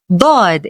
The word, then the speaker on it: ض: Bod is a deep strong duh sound different from the regular du as in dog. It is pronounced with a lot of tongue pressure and is unique to Arabic.